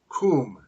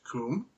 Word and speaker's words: cwm: have the the word Kum cwm which is pronounced Kum although they have anglicized